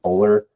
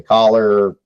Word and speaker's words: Kohler: So like the way you pronounce my name is actually Kohler, and a lot of people say Collar, Kolar, all kinds of funny stuff.